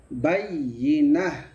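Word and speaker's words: بيّنة: أهل الكتاب والمشركين حتى বাইয়েনা না, বাইয়িনা। ইয়াতে জের হবে, ঋষিকারের উচ্চারণ হবে বাইয়িনা।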